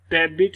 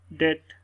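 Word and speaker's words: debt: इस तरह इसको डेबिट नहीं पढ़ेंगे, डेट, बी की साउंड यहाँ पर साइलेंट।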